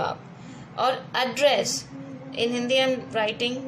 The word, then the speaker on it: address: और एड्रेस in Hindi I am writing the pronunciation. जब आप ऐसे बोलोगे एड्रेस, नॉट एड्रेस, एड्रेस, it means हम किसी को संबोधित